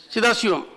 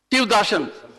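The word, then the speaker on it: Sivadasan: He is Dasan of Shiva.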